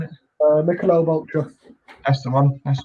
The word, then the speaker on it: Michelob: Michelop, is that how you say it? Michelop, Mich Ultra, whatever you call it. Michelob Ultra.